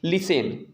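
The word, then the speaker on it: listen: 30 silent होता है T silent जैसे लिसेन यहां पर अगर देखा जाए तो यहां पर टी हमेशा क्या रहता है हमेशा क्या रहता है आपका साइलेंट रहता है इसे आप अच्छी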